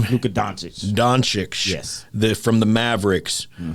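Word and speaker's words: Dončić: do you say that name who could donate doncic yes the from the mavericks we both agree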